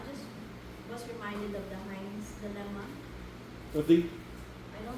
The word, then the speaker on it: Heinz: no, I just was reminded of the Heinz dilemma. Of the I don't know how to pronounce it.